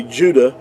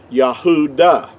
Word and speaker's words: Yahudah: the word uh judah in our english word would be uh what would be accurately would have been pronounced yahudah now most people won't argue with that fact that it's yahudah and it's not yahwada see with the w